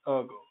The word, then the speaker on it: ergo: I think Latinate language speakers will pronounce it like that. Ergo. Ergo. Ergo. Ergo. Ergo in Latin and Latin language. Just in Latin and Latin languages like ergo, but in English, ergo.